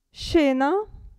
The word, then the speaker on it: scena: Abbiamo il gruppo SCE che si pronuncia SCE, SCE, scena.